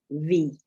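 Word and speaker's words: wie: we had is mine so ie is always e for example we've just had above the word for how meaning which is v sorry so the word for how is v which we've just had above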